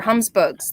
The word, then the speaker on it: Humsbug: Oh, I think it's under Humsbugs. That's my Gmail. Humsbugs, like humbug, but Humsbug.